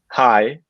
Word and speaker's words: Hey: Hi, just observing. I learned that it looks like Hendrik Hay, but actually it's pronounced Hi in the old German style.